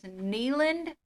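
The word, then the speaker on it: Neyland: And then his name is Neeland Wayne. So the Tennessee Vols football stadium is the Neeland Stadium. People get his name wrong all the time. They call him Nayland.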